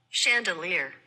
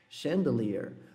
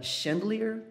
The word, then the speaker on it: chandelier: Chandelier. Chandelier. Ou seja, não é nem chandelier com a força toda no chan e nem toda a força lá no final do ear, né?